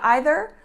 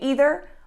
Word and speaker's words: either: correct if you say either or if you say either both are correct so you can use